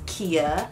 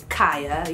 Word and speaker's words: Kia: my name is Kia pronounce Kia not kya you guys wouldn't believe